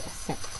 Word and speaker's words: Aset: In ancient Egypt, she is known as Aset, and I think there's another way of pronouncing it, but I pronounce it Aset.